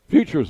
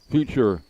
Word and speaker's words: Phuture: Futures ball. Future phenoms. And they spell it P H U T U R E.